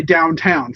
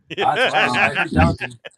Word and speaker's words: Downton: Anyway, I didn't say downtown, for the record. Downton.